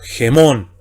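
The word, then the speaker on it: ἡμῶν: Anteponemos sonido gutural fonético J a la misma vocal eta y sería G y entonamos el acento circunflejo. Gemón.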